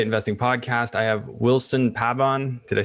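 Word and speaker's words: Pabón: me so i mean if you wanted with the spanish accent would be pabon but i mean people call me pabin people call me pablon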